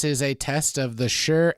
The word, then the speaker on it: Shure: a test of the Shure sm57 cardioid microphone and I'm 100 sure that's how you pronounce it all right this is